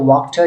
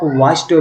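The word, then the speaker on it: Wachter: है black Smith का, तो फ्रेंच में इसकी प्रोनाउंसिएशन है वॉक्टर, ठीक है। तो इंग्लिश में इसको आप वास्टर भी पढ़ सकते हैं, वास्टर, लेकिन वॉक्टर ये फ्रेंच जो वर्ड है, इसकी प्रोनाउंसिएशन वॉक्टर है।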